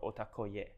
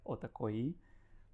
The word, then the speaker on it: OTAKOYI: One of them is OTAKOYI or OTAKOYE.